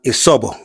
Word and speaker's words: Isobo: It's not Isobo. We are Isobo. Isobo. Isobo. That is the pronunciation the Englishman gave to us.